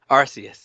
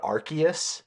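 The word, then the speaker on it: Arceus: First off, do you say Arus or how do you how do you pronounce that? Arus. Arus. Okay. Cuz I think my chat was kind of freaking out cuz I think at one point the lady said Archus with a K.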